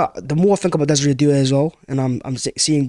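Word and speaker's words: Désiré Doué: Desire do. Good play. We'll finish there. Pleasure, lads, as always. I think Desiree Doué is the first player I've pronounced correctly.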